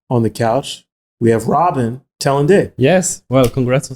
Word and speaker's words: Robin Tallendier: We have Robin Tallendier.